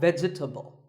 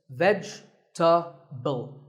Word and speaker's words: vegetable: a lot is vegetable it's not vegetable if you say it correctly there are only three syllables vegetable vegetable let's talk about a couple